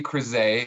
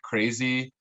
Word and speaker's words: Crezee: Riley Crezee (crih-zay) is how you say it. Kind of a hard last name to pronounce. So most people just call me like crazy. Perfect. Or creez.